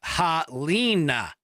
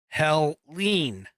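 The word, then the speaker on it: Helene: I guess I'm being I'm being corrected on my pronunciation it's hell uh halina or Hell Leen anyway depending upon who you ask ah oh my gosh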